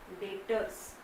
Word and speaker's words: debtors: See, I am pronouncing is as a debtor. Okay, तो बच्चे लोग को एक लगता है कि यहाँ पे बी है तो डेप्टर करके बोलते हैं। सो बी is silent, B silent है, आपको उसका प्रोनाउंसिएशन कैसे करना है, डेटर्स।